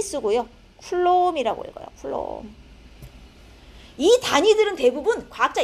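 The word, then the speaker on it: coulomb: 쿨롬이라고 읽어요.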